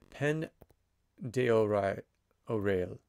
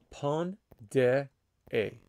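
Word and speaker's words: Pend d'Oreille: Okay, that is really, really bad pronunciation. I need to find out how to actually say that. I'm going to find for us the phonetic way of saying that name. Okay, so phonetically, how do you say it? How do you say this name? Okay, it's called the Pont de A. Pont de A. So Pont de A tribe.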